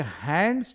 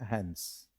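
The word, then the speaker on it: hands: हैन और अस देखिए हैंड्स बोलते हैं तो उसमें डी का उच्चारण नहीं करते आपको उच्चारण करना है हेंस ये डी का उच्चारण नहीं करना है जैसे हम लोग सैंडविच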